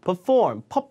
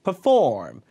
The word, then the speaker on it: perform: perform 아니고 perform. 푸예요. 푸 앞에가 강세가 없으니까 perform.